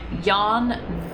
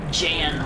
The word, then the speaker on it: Jan: J Yan Miner. I keep wanting to call it Jan, but that's not how you pronounce it.